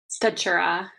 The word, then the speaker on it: Stachura: Sorry, let me see if I pronounce your last name correct. Stachura. How you pronounce it? Stachura. Stachura. Is that correct?